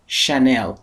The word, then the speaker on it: Chanel: پس ببینید تلفظ صحیح این برند که معمولا برند عطر و لوازم آرایشی هست، Chanel، نباید بگیم چنل.